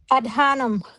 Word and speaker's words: Adhanom: Adhanom. Adhanom, okay. Yep. Emphasize on the H.